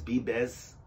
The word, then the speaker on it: Vives: it's VI ves but the V is pronounced like a B and an S so it's be best I'm confusing myself but